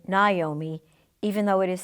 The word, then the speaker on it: Naomi: School who used to call me Wyoming I never had the heart to correct her plenty of people called me Naomi even though it is